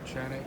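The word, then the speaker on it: Canik: Chanik. It's spelled with a Chanik.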